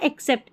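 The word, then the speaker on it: accept: तो दोनों का उच्चारण सेम है।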